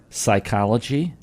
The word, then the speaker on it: psychology: Psychology, P is silent.